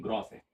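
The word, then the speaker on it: gross: ग्रास नहीं है। ग्रॉस है। है ना? कहीं-कहीं कुछ लोगों का प्रोनाउंसिएशन ऐसा होता है। ग्रास error. ग्रास एरर नहीं है। ग्रास एरर है।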